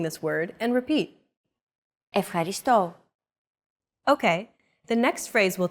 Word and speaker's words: Ευχαριστώ: Ευχαριστώ. Your turn. Ευχαριστώ. Ευχαριστώ. Do you remember this mark here? We talked about it in lesson 2. It's the accent mark, and it indicates that this syllable is stressed.